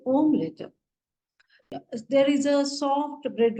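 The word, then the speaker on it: Omelett: e i i and for omelet the spelling is same but they will say om letter they will say omlet there is a soft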